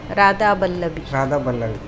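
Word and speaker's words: রাধাবল্লভী: ರಾಧಾ ಬಲ್ಲವಿ. ಅವರಲ್ಲಿ ವ ಉಚ್ಚಾರ ಇಲ್ಲ, ಅವರು ಬಾ ಹೇಳುದು ಎಲ್ಲದಕ್ಕೂ.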